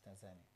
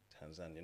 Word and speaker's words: Tanzania: I just want to know, how is it pronounced? Is it Tanzania? Where it came from? Yes, Tanzania. Tanzania, not Tanzania.